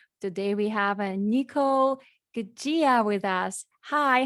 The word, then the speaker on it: Guggia: It's Guggia. So Niccole Guggia is how we say it.